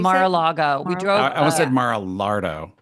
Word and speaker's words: Mar-a-Lago: And Did you that's where drive by Mar-a-Lardo? How do you say it? Mar-a-Lago.